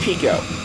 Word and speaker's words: Pico: Oh shoot, hit the zipper and ran in the back of him, and that lets Pico pass me, and that is the proper pronunciation. I thought it was Pico when I first, man, I gotta concentrate here.